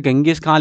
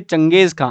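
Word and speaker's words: चंगेज ख़ाँ: हुआ है गंगेज खां, लेकिन इसको कहते हैं हिंदी में चंगेज खां।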